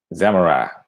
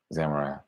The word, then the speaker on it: samurai: Samurai. That's how you pronounce it. Samurai.